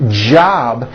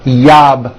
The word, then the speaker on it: job: So, for example, the word job has a J at the beginning. Job. It's never yob, my yob. It's always my job with a strong J sound.